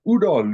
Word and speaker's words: OODA: topic of situational awareness and very specifically the UDA Loop and the Cooper color code of awareness